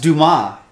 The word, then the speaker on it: Dumas: it's pronounced Dumas that's uh Shawshank Redemption Alexander dumbass it's Dumas foreign foreign a